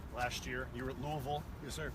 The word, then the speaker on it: Louisville: You were at Louisville. Yes, sir. I pronounced that correctly? Yeah, Louisville? There's actually T-shirts that have about 7 different pronunciations. So I think, any one of those works.